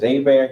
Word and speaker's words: Hebert: We pronounce it as Hebert here, not her.